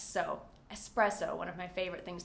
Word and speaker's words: espresso: Next, espresso. There is no X in espresso, and many native English speakers are guilty of creating an X here in this word, and it has no X, so espresso, one of my favorite things to drink.